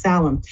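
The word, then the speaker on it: Samhain: first started learning about it but it's actually pronounced salum and it's the end of harvest season it's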